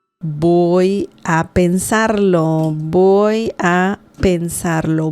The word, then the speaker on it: voy: Remember, the V sound in Spanish is similar to B as in bell in English. So voy, just imagine this is a B, like that. Boy, that's the pronunciation.